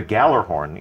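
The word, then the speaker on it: Gjallarhorn: rocket launcher called the galloran is coming back woohoo one of the most iconic weapons one of the most debated pronunciations I think we got it now in our game I'm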